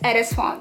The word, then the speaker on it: Edesfonnt: It's pronounced Edesfonnt.